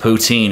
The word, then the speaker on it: poutine: know gravy cheese curds on top of fries poutine is that how you pronounce it yes but if you go to